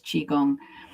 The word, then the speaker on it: Qigong: And it's how you pronounce it in Chinese that differentiates.